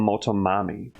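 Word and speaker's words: Motomami: This one was very highly requested, and this is the first song we're checking out from her 2022 album, Moto Mommy. Okay, that's how you pronounce it.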